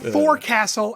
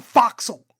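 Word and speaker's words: forecastle: It's not a four castle, it's a foxle.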